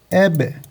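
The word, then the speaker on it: أب: Anne eb ebun yazılır. Eb okunur.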